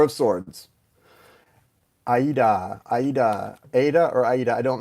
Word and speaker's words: Aida: really the salt it's from Aida the Broadway show beautiful song check it out it's pronounced like the giuseppe play but my question is